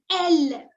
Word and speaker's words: elle: She is pronounced as elle.